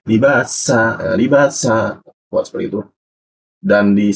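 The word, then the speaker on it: لباسا: Ini menggunakan sa pakai sya ya. Libasa atau libasya. Nah, jadi perkuat huruf sa-nya. Libasa.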